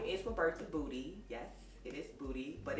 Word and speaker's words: Budy: that um knew me i probably referred to me as the buddy but in all honesty the pronunciation is booty i am a braider